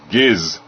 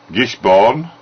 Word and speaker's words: Gisburne: by the way, and anybody, by the way, this is how to pronounce it. Gisburne, not born. Gisburne 2000. So it's not Gisborne or Gisburne or Ginsberg.